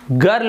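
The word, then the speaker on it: girl: ज उच्चारण करते हैं, लेकिन यहां पर देखिए जी के बाद आई तो है लेकिन इसे हम गर्ल पढ़ते हैं, जी आई आर एल गर्ल, यहां पर जर्ल नहीं पढ़ रहे हैं, जबकि नियम में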